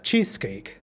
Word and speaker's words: cheesecake: o sustantivo compuesto cheesecake Haz fuerza la primera palabra cheesecake One igualito que en